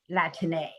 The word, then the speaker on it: Latine: It is in response to that criticism that advocates encourage us to use today the word Latine. So Latin with an E at the end.